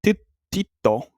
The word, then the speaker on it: tyttö: So tyttö, the way they pronounce it, sounds kind of similar to tётя, which is Russian for like just I guess woman.